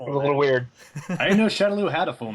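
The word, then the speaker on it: Shadaloo: Do we know how it's pronounced? Well, I guess the games still say Shadowloo, which...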